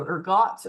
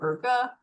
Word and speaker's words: ergot: So whether or not we pronounce the T is debated, so ergot or erga.